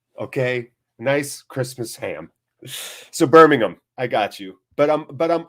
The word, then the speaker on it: Birmingham: Hate to be that one English guy, but it's pronounced Birmingham, not Birmingham.